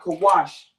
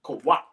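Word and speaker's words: Qawach: Now, it's not Kawash, Kawach.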